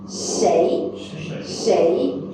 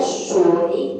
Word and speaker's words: 谁: 谁 okay? Actually there is 2 pronunciation. You also can say 谁 like SHUI. Okay, SHEI and SHUI is acceptable.